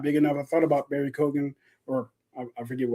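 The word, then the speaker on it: Barry Keoghan: I thought about Barry Kogan or I forget how you say his name. Yeah. Yeah, you got it. Barry Kogan.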